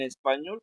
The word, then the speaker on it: español: Por ejemplo, en español, esa ya está contestada, ¿no? Español, pues ñol es la que suena más fuerte, ¿no?